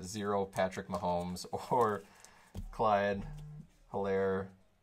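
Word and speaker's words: Helaire: patrick mahomes or clyde hillaire or elaire as they called him on monday night football which i'm assuming is probably the right pronunciation or enunciation all right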